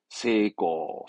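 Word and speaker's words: 成功: 발음은 네, 세고, 세고.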